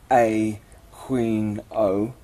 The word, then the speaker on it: Aquino: He likes his name to be pronounced A Queen O.